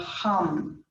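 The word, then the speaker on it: ham: the bija mantra of hum h a.m. and we pronounce the H short a long M take a deep breath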